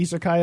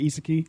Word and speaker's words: isekai: The isekai episode where we literally the two of us say isekai over and over, and you just say iseki every single time.